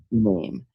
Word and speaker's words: Amy: Amy wants you to know that her name is pronounced like Mame. Okay. Mame.